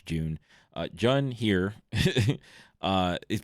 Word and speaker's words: Jun: also on Jun or June however you want to pronounce her name I I usually say Jun because it's JN but apparently it's June uh Jun here uh